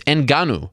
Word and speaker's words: Ngannou: It's Ngannou. Not that hard to pronounce.